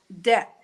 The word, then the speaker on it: debt: Folks need help in debt. I always have trouble pronouncing that word.